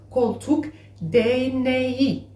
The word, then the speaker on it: koltuk değneği: Il y a le G-mot, donc ça se prononce koltuk değneği.